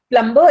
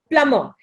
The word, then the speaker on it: plumber: It is not plumber, it is plumber, and a lot of people these days are using it correctly, plumber.